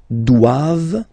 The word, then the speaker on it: doivent: And then the last one, ils doivent. So same thing, classic ending for the plural form, ent here. Okay, but then you don't pronounce it.